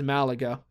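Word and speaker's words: Málaga: I believe Malaga is Malaga. I don't think that actually changes, especially because it's written here with an accent on the A, so really that's not an English thing.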